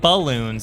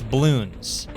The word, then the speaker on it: Bloons: It's not balloons, it's balloons.